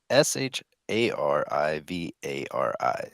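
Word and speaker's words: Charivari: It's uh s h a r i v a r i safari vari. So you know who that is.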